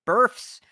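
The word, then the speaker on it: berfs: word that's written here b-e-r-f-s i didn't mispronounce it burfs where a minions cost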